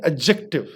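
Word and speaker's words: adjective: एडजेक्टिव, ADJECTIV, यहाँ पे D silent होगा, इसको आप पढ़ेंगे एडजेक्टिव। हाउ you will pronounce it, it will be pronounced as एडजेक्टिव।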